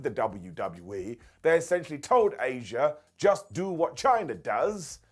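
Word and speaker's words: Asya: Number 14, Asia. So look, this is spelled AS YA and she was only called Asia cuz WCW wanted their own version of China.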